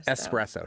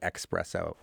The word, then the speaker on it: espresso: the song called espresso it is es it's espresso she doesn't say expresso there are eological grounds for both and so you shouldn't judge people when they do this harshly like your dictionary judged you when you said mischievous when you arrived there that's true but it is still more standard to say espresso as as opposed to Espresso right well it's more